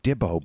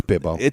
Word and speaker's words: Bibbo: It's It's still Sometimes you can think it sounds like Dibbo, but yeah, but he's saying like Dibble like the way he's saying it, you know, in his pronunciation. It's Bibbo.